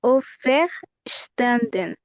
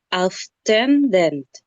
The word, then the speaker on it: auferstanden: Se está saltando una sílaba. Tiene que decir auf er, esa sílaba. Auf er stenden. Son cuatro sílabas las que tiene que sacarme.